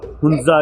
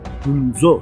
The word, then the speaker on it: ہنزا: کر لوں گا میں ہنزا کی پری ہسٹری بتا دوں اور فورٹ کے بارے میں تھوڑا بہت بتا دوں. آپ نے لفظ ہنزا سنا ہے, جو اصل تلفظ ہے ہنزو ہے.